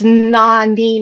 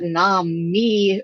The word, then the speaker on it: Nani: It's Nani, not Nami, Earl.